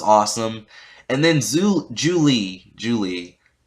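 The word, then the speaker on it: Zhu Li: and then zu julie julie i i said zulie because like it's spelled with a z i think they're using like chinese names or something um in avatar so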